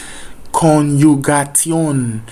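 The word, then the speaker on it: Konjugation: J is Y sound, so don't forget that. Conjugation. A is always R sound. So anytime you see A in German, it's R sound. Put your English aside for now. Conjugation. T is always T. I is E. O is O. Just follow the alphabet and you'll be able to pronounce everything in German perfectly without stress.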